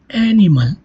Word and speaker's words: animal: As you can see here, if the penultimate syllable is light, as I said, stress falls on the antepenult, which is basically third syllable from the last, as you can see in animal.